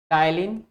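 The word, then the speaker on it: ptyalin: इसको क्या बोलते हैं पी साइलेंट होता है टायलिन या इसको क्या बोलते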